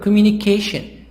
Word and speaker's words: communication: communication so this word communication so this word one two three four five parts but the stress on part number four page 65 exercise for